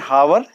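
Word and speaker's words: hour: जैसे N honest, N हावर इत्यादि।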